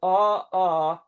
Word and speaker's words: maailmalle: It is spelt M-A-A, and they have a hyphen between syllables, E-L, so it's ma-il. Mm-hmm. And Malle. and then and mal, then il, then M-A-L Mm-hmm. hyphen dash, then L-E.